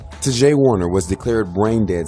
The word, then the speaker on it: Ta'Jae: Tajai Ford. In some cases, it's spelled T-A apostrophe J-A-E.